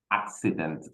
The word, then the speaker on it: accident: all right, Okay, we have, okay, accident. So we have to pronounce these words as a KS, the right.